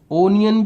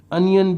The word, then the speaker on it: onion: ONION, अनियन, ओनियन भी कहते हैं, अनियन भी कहते हैं, दोनों ही इसका प्रोनाउंसिएशन चलते हैं।